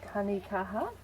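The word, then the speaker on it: tanekaha: New Zealand tree called tanikaha. Tanika. This is a native tree. Can you spell that? T-A-N-E or T-A, T-A-N-E-K-A-H-A, as in strength, Māori for strength.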